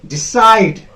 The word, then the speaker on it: decide: I have given the example, decide. D is one syllable, side. Here is another syllable. There are two syllables. Side. This very part will be stressed. This very syllable will be stressed. Decide. Okay, side has to be a louder, a longer. Export. Now, you can differentiate here